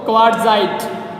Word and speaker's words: quartzite: क्या बोलते हैं इसको, क्वार्टजाइट। क्वार्टजाइट, QUARTZITE, यहाँ पे टी साइलेंट रहेगा बेटा, क्या नाम होगा क्वार्टजाइट।